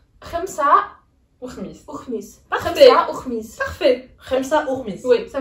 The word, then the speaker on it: خمسة وخميس: Khamsa ou khmis.